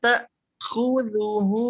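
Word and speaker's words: تأخذه: Oke, taknya dia ditekan, dihentak. La ta'khudhuhu sinatu wa la naum. La ta'khudhuhu sinatu wa la naum. Oke, pastikan jangan ada bunyi dengung ke ain, Bu, ya. Tapi tak gitu, seperti di stop.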